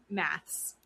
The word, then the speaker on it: MAFS: MAFS. MAFS. MAFS USA. MAFS. Married at First Sight USA. Season 20. I hear it as like someone who's British saying maths. Oh. It's maths.